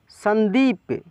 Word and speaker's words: संदीप: कैसे लिख सकते हैं, एक तो ऐसे लिखेंगे सन, देखिए न का उच्चारण तेजी में हो रहा है तो आधा लिखेंगे, दीप संदीप, एक तो ये तरीका हो गया।